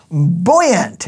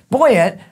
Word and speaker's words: buoyant: and then finally it's buoyant it's not girl aunt but it's her brother or boy yet no just kidding boy yet or buoyant means to